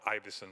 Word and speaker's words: Ivison: I will I will correct the way you pronounce my name it's IIs I beg your pardon it's okay nobody gets